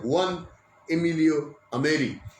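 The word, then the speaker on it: Juan Emilio Ameri: আর্জেন্টিনার একজন সাংসদ, তার নাম জুয়ান এমিলিও আমেলি। এই হুয়ান এমিলিও আমেলি, স্প্যানিশ উচ্চারণে হুয়ান এমিলিও আমেরি। এই হুয়ান এমিলিও আমেরি বেশি বয়স নয়, তার মধ্য 40-এর বয়স তাঁর।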